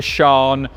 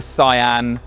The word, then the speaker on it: Sián: It is, depending on who you ask, the Sha or the Cyan or the Can.